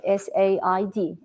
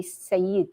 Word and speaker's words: said: or new to English, if they start to sound, the word will be Sayyid. It's look like Sayyid if you spell it, but it's not. It's said.